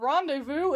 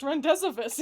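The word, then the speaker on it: rendezvous: the Pokemon I learned rendevous isn't pronounced rendees.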